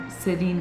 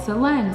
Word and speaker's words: Celine: I was born S-E-L-E-N, Celine, and for my whole life, I would be called Celine, Celine, and I'm like, no, that's not how you pronounce my name. My name is Celine. And I would say Celine, like Celine Dion.